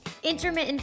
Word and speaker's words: intermittent: Today we're talking about a topic getting a ton of attention recently, intermittent fasting. Intermittent has a T, I hear it, but people don't pronounce it.